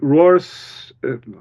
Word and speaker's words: Roar: with troll it was Roars it's always fun to say his name in English because it's Roar and it's very fitting for a troll movie uh but you talk